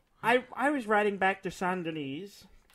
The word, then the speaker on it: Saint Denis: I was riding back to Saint Denis. And, rhymes with penis.